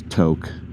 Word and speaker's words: Tok: And I'm leaving to I think I originally pronounced it and it's not. It's to.